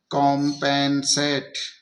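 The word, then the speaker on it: compensate: जब आखिरी में ई आ जाता है तो उसको हम छोड़ देते हैं, उसका उच्चारण नहीं होता है। ये हो गया कॉम्पेंसेट।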